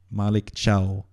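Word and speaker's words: Malick Thiaw: hear from the the horse's mouth how he pronounced name the name Maliko Malik Malik Chiao.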